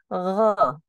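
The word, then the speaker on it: غ: Dan Gain untuk diperhatikan gain itu bukan huruf g seperti Indonesia G Indonesia gusi gigi tidak seperti itu cara pengucapannya tapi gho gho kedengaran gho kalau di tulisan latin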